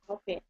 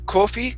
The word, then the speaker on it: coffee: and the first one instead of Kofi kof is C coffee coffee coffee that's it okay and the next